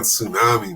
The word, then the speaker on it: tsunami: is silent that's good that's like that t on tsunami man that's a sneaky little T man this one's better